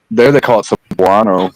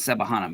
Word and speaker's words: Cebuano: They call it Visayan or I thought it was Sebahana, but it's Cebuano.